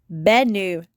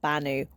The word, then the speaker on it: Bennu: I am mispronouncing Bennu. It is Benu, not Banu, which I keep saying.